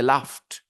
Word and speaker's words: laughed: you pronounce po okay then f f sound laughs l a u g h there is no F in the spelling though laughs the sound is f so you add Ed and you say laughed similarly brushed rushed okay so